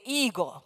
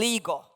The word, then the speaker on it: ego: Omega eg long o we anglicize the pronunciation and say ego the Greek is ego